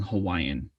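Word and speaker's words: Hawaiʻi: and it's funny because we call it hawaii for those that really know what and how to say it um but then when we say the english word hawaiian we don't really add that kind of glottal mark or phenomenon in it and say hawaii in some people do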